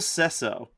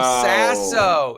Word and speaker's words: Will Sasso: Will Sesso from Mad TV. Oh, Will Sasso. Is that Sasso. Is Sesso the way you say his name? I think it's Sasso. It's probably Sasso.